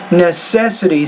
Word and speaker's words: necessity: put stress nest set necessity so stresses on that second syllable just that you guys